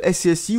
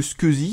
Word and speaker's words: SCSI: C'est pas totalement certain à 100 % mais en tout cas j'ai l'impression que c'est juste pour le SCSI ou le Squeezy si vous préférez cette prononciation là.